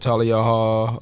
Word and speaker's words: Thalia: to pop out yeah yeah so we had tal yall um that's how you say it tal I